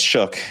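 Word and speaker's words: Shough: So, it's show shu or I love Shook. Yeah. No, it's Shook.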